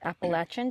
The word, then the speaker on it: Appalachian: Do you know how to say it? I think it's Appalachian. Because we're Californians. Excuse us. However, there's two different ways. Appalachian, depends who you talk to.